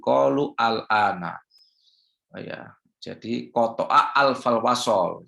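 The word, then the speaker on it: قالوا الآن: Jadi bacanya bukan qalul ana tapi qalu al-ana.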